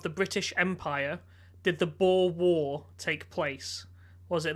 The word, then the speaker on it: Boer: Yeah, actually, Boer as in like year of the boar, or like BOER.